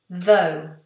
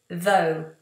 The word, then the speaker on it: though: Elena is asking, how do you pronounce the word though? Though. T-H-O-U-G-H. Though. Though. So whenever we have a TH, make sure that tongue is between the teeth.